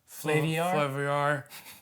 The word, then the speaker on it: Flaviar: Flaviar. It rhymes with caviar.